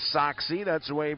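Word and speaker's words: Sachse: SEMO had a baseball player with the last name Soxie. That's the way he pronounced it and spelled it.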